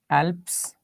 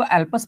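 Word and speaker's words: Alps: एल्प्स mountain range है एल्प्स पर्वत इसको कुछ लोग अल्पस पढ़ते हैं कुछ लोग एल्प्स पढ़ते हैं आप कुछ भी पढ़ लीजिए स्पेलिंग सेम रहेगी क्लियर हुआ स्विजरलैंड वेरी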